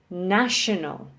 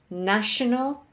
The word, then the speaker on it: national: So these are words with 3 syllables with the emphasis on the first syllable. So we have regional, national, and critical. Okay, regional, national, critical.